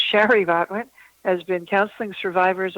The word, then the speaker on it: Shari: Shari is spelled S-H-R-I, not Sherry. I say that because I have a cousin named Sherry. So it's Shari Botwin, has been counseling